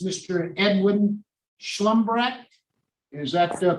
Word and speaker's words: Shlumbrecht: next case is a revocation it's Mr Edwin schlumbrack is that the correct pronunciation of your name sir yes sir would you give us your full name and Doc number Roberts schlumbreck 474626 thank you Mr slumbback uh this is